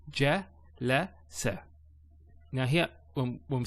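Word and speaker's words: جلس: So ja, la, sa.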